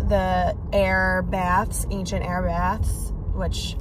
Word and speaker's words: Aire: And I called the Aire Baths, Ancient Aire Baths, which I can't wait to tell you guys about.